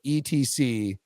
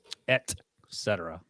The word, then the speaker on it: et cetera: Costas asked me, all right, so how do you say the full version of ETC period comma? Et cetera. Yes. Not etc.